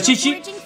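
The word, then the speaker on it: Qiqi: En español es Kiki, pero en chino se pronuncia Chichi.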